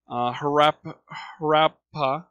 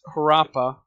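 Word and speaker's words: Harappa: the Indus River Valley her rap rap pas I probably mispronounced it's one of the major cities and this city as well I guess I'm looking at the pronunciation now this is her Appa and the other one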